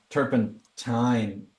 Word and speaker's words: turpentine: magazine turpan T yeah it should be teen but they like Turpin time gosh it it's like